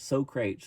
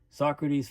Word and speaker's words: Socrates: And uh you know I love when they talk about here I mean Socrates I used to call it so crates all the time like Socrates I'd pronounce it so crates wasn't the greatest fan